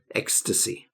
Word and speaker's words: ecstasy: of disgust ecstasy so we have to be very careful how we pronounce this x x ecstasy okay ecstasy is that